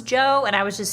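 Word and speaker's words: Zhou: Actually, I think some of the pronunciations of ancient Chinese names like I think Z H O U becomes Joe and I was just saying it wrong.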